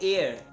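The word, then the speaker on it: heir: तो यहाँ पे क्या है, एयर, एयर है, तो यहाँ पे क्या है, एच साइलेंट होता है, इसके आगे आर्टिकल एन आएगा।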